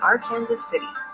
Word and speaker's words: Arkansas City: the border with Oklahoma this is Arkansas City and yes that's how they say it hi Kansas City or